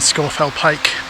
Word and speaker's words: Scafell Pike: of the lake and all locals know it's scorefell and scorfell pike and if you're wondering